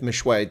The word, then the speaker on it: Meshoe: I'm sure I get it wrong Reverend Kenneth Mishu did I get your name wrong sir Mish sir you got it right